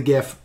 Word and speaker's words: Gith: I love the Gith. I've always loved the Gith. I'm for my answer for this question. It's Mind pronounced Flayers. Jith. It is pronounced. No, Gith. No, it is not pronounced Jith.